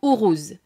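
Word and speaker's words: Uruz: reprises le nom urous alors c'est urous que ça se prononce ourous puis adressez-lui cette prière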